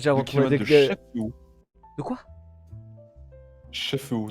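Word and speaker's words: Chef-Haut: Chefeau. De quoi? Chefeau, 2 km de Chefeau. Sérieux? Comme ça se prononce, le chef est en haut. Voilà, Chefeau.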